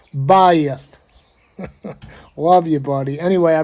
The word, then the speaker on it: Beth: Uh, it's spelled BE T, but it's actually pronounced Bayith.